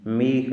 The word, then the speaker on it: میخ: میخ۔ میخ نہیں پڑھنا ہے، میخ۔ میخ یعنی کیل، میخ